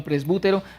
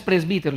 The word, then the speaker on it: presbítero: Algunos lo pronuncian presbútero, pero en español es presbítero, el presbiterio de la iglesia.